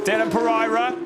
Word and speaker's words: Dylan Pereira: Dylan Pereira, yes, that is how you pronounce it, the request of his family. Dylan Pereira holding off Lauren Heinrich, the new champion in 2022 of Porsche Carrera Cup Germany.